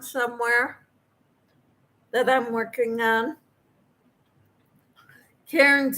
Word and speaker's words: Cairns: Cairns is pronounced like cans.